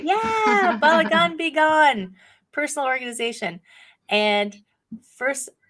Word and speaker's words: balagan: personal organization expert and I'm gonna say it wrong balagan did I say that right you said it right yeah balagan beone personal organization and